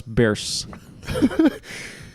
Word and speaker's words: Bierce: So we said Ambrose Bierce. Like the Bears.